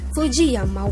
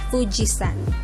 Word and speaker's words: Fujisan: used today that's why some people outside of japan mistakenly refer to the unesco world heritage site mount fuji as fujiyama when in fact it's fujisan hiragana so if